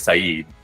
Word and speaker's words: Said: But what was funny was his name is Saeed, but you just spell it in English, Said, S-A-I-D.